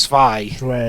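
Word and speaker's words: Zwei: is uh better oh it's pronounced it's it's pronounced spy it's german tio and pedro teach german whatever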